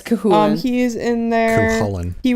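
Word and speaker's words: Cú Chulainn: Cthulhu, maybe Cahulin? Cahulin, there we go. Yeah, it's Cahulin.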